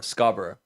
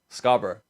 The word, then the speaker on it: Scarborough: Scarborough. Scarborough.